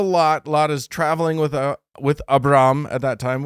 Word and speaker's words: Abram: Lot is traveling with Abram at that time. Is that how you would say it? Abram? Avram.